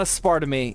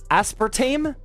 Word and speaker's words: aspartame: Thursday as oh oh it's not it's not a spar to me yeah yeah yeah I I used to say